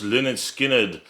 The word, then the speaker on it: Lynyrd Skynyrd: There we go, LYNYRD SKYNYRD, pronounced LYNYRD SKYNYRD.